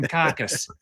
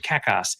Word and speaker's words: carcass: So, we bring the chicken carcass. I think you pronounced it kacass, which is not right.